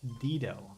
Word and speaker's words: Dito: It's It's pronounced Dedo, okay? It's two I's.